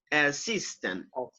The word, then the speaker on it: assistant: assistant listen sorry yes you have the stress anthony and the second syllable personal assist assistant assistance assistant yes that's